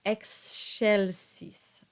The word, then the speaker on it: excelsis: And so you get the word that everybody trips over, and it's excelsis. The C now takes on the sh quality, the soft sh sound, because it's between the X and an E.